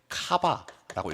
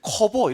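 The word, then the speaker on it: cover: 이거 읽을 때 뭐라고 읽어야 되냐면, 읽을 때 카바라고 읽어야 됩니다. 카바. 알겠죠? 이걸 갖다가 이제 읽을 때 커버 이렇게 읽으면 안 돼요. 내가 발음이 안 좋아서 이걸 카바로 읽는 게 아니야. 카바로 읽어야 맛이 살아.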